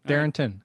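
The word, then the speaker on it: Darrynton: nickname darrington darington evans it's it's darren yeah but is that like is it like demarius thomas where there's like an extra letter that you don't pronounce in the name kind of thing no it's darren tin darrington all right well i do pronounce the n in there just come up with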